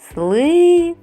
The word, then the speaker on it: слива: значить і два склади А на який звук падає наголос слива на и молодці тож скільки звуків